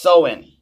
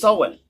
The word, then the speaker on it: Samhain: Halloween's origins date back to the ancient Celtic festival of Samhain, pronounced Samhain. Oh, it's Samhain.